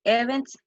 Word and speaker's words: events: many is not boarding it's not boarding events events event events event events event you have to stress on the second syllable events how many events